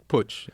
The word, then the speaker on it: Putsch: Is that push? Putsch, you said it right, because it's a German word, because they had putches in Germany.